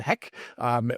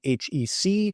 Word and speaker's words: HEC: Now, the purists, I may slip here a few times today and call it HEC. For the purists, it is 3 syllables, not 1.